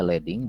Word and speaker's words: leading: ini Leading ya Hai bacanya Leading bukan lilin karena ini istilah yang